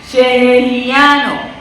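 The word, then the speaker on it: Shehecheyanu: Sheheriano. Muchos no lo pueden pronunciar así. Sheheriano.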